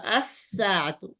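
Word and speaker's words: الساعة: আলিফ লাম লাগাই দিলাম, তখন বলতেছে এই লামের আর উচ্চারণ হবে না, তখন এই সিনের মধ্যেও পরিবর্তন আসবে, তখন কি হবে? আস-সাআতু, আস-সাআতু, আস-সাআতু।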